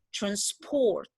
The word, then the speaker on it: transport: Itu artinya si transport karena saya stressnya di second syllable, berarti dia menjadi verb. Yang artinya mentransportasi. Tapi kalau misalnya mau dibikin sebagai noun, misalnya contohnya kalian pasti pernah dengar transport money kan? Jadi uang transportasi or something like that. Maka kalian harus pronounce atau stress the syllable into the first one.